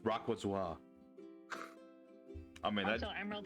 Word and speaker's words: Rayquaza: Is it Rayquaza or Rayquaza? I hear Wayquaza a lot. I don't know. I think it's pronounced Rayquaza.